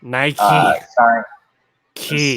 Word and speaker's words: Nike: Nike. Key. Yeah. It's stupid. It's stupid. You should be pronouncing it right, but it's a stupid word, so we'll give you a free pass.